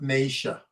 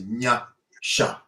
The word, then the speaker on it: Nyasha: Her name is Nya-sha, not Naisha. Okay. Nya, like Nyame for God.